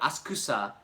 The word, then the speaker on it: Asakusa: So locals may call it Asakusa, just like people in Pakistan call it Pakistan. But we don't have to say it like that, because that's... we're speaking in English, we're not speaking in Japanese, so a lot of people attack me for not saying it Asakusa, like the locals do it.